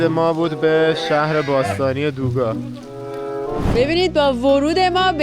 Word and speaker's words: دوگا: رسیدیم به دوگا و اینم که ق سه نقطه که گ تلفظ میشه چون عربا ندارن ولی اسمش از عربی نیومده اینجوری نوشته دوگه چرا